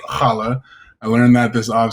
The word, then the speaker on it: challah: just got done uh learning how to pronounce it's not challa it's challah i learned that this